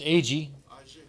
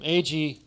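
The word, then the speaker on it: Aggée: I think in French it's pronounced Agi.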